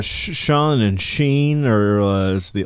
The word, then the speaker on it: Sean: Why did you pronounce it Sheen when it's Sean?